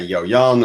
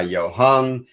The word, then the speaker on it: Johan: People ask me why Jojan or why Johan. Johan is official, nickname Jojan, because my brother was not able to pronounce the H.